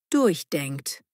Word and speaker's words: durchdenken: Betonung durchdenkt.